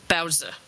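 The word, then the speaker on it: baozi: The correct pronunciation is Bowser.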